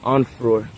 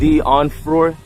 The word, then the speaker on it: Onfroy: Onfroy. We're here at Jahseh Onfroy cemetery site and burial.